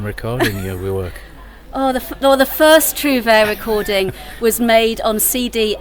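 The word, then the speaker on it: Trouvère: How long is your season performing as Trouvere Minstrels? Am I saying it right? You do. It's beautiful pronunciation, if I may say so.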